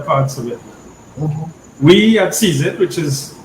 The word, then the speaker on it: CZITT: of these other parts of it we at cesit which is pronounced uh sees it as in gravit and hold it is the